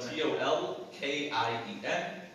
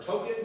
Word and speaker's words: Tolkien: so you know i i've heard it all i've heard token i've heard tolkien i've talked about all of these pronunciations his name is pronounced tolkien uh here's some audio